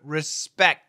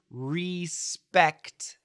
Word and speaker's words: respect: awah r r respect we can stop the sound here perfect pronunciation respect respect but in Daily English respect and then you can stop the K respect or you can stop the K and the T at the same time respect okay so in my